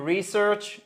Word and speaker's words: research: To do research, faire des recherches, c'est comme to do business. Vous avez d'ailleurs une accentuation sur la première syllabe.